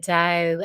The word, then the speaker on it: Tao: to say that the dao and it's usually written actually like tao but it's pronounced like a d d um so sometimes